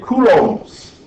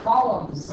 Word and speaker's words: coulomb: Measured in coulombs. Coulombs. Kind of a fun word to say. Johnny, you should hear Johnny. Should hear Johnny say coulomb. Columns. Yeah, he literally pronounces columns, and I'm like, Johnny,